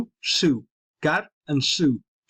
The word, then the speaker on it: Su: And that, or not Su, Su. Gar and Su. It's tough for me to pronounce it because it's Basque.